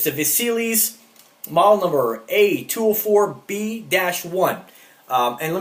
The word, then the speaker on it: Vassilis: today is called, and I had to Google the pronunciation, and this is called the Vassilis, if I'm saying that correctly, Vassilis. It's the Vassilis model number A204B-1.